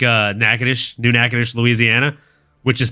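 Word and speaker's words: Natchitoches: like having lived in a city like uh nacadish new nadish Louisiana which is spelled Naches um you know you don't want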